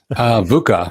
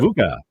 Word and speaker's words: VUCA: Daniel, how do we pronounce that? VUCA for short. VUCA.